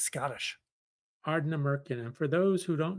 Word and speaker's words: Ardnamurchan: So they're both from Ardnamurchan. Sure. That was pretty good. Ardnamurchan? Sure. I do pronunciation well.